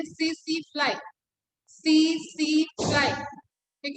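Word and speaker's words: tsetse: Secondary host is blood sucking insect, जिसको बोलते हैं सीसी फ्लाई। सीसी फ्लाई। ठीक है, स्पेलिंग होता है टीएससी टीएससी, आ जाता है मैच द कॉलम में, और इसका साइंटिफिक नेम याद रखना, ग्लोसिना।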